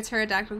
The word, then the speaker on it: pterodactyl: can't you hear a pterodactyl going to the bathroom because the p is silent oh my God no